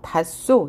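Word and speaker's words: 닿소: 두 번째, 히읗 뒤에 시옷이 결합할 경우에는 시옷을 쌍시옷으로 교체하고요. 히읗은 탈락이 됩니다. 그래서 닷소, 히읗 다음에 시옷이 왔잖아요.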